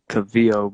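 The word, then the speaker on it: Calvillo: It's fucking Cynthia Cavillo, bro. And I said some shit Cadillo.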